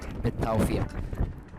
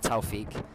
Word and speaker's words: بالتوفيق: يعني هذه الجملة سهلة شوي، بس القاف صعب شوي. قاف قاف بالتوفيق. بالتوفيق. ليس توفيق. Not توفيق. That sounds like somebody's mispronouncing a guy from London's name. توفيق. No. بالتوفيق. قاف with a قاف.